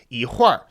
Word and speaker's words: 一会儿: not adding a syllable, it's just changing the pronunciation of the previous syllable, like 一会儿. That's two syllables, three characters, right? So 会儿 is two characters, one syllable. 一会儿. In this case, generally speaking, if this is what's the phenomenon that's happening, you can drop the R.